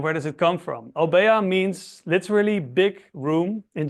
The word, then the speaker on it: Obeya: It's usually spelled with one O, but if you translate it literally, it's spelled with two, but many people don't pronounce the second O. That's why they lose it.